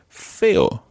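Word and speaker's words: feo: sense now the opposite of guapo guapa is fail fail that's spelled f e o fail and the feminine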